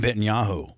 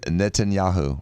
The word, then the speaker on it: Netanyahu: me we actually have a story from Betanyahu like like I know that's not his name but that's what I nicely. Yeah it's close enough. Benjamin Netanyahu Benetahu. How do you say his official name? It's Benjamin Netanyahu right Seth? Yes.